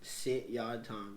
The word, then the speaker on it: Sit Yat Tong: Sit Yat Tong. Yeah, it's like 3 syllables.